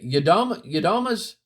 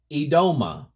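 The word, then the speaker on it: Yedoma: Edoma, pronounced Edoma, I guess that's, the Y is silent there, are hills with high proportion of ground ice.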